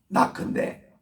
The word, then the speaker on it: knock: 구하라 그러면 얻을 것이요 seek 찾으라 seek 그러면 찾을 것이요 그리고 문을 두드리라 knock인데 K가 묵음이기 때문에 K-N-O-C-K knocking 하라 그러면 언제가 문이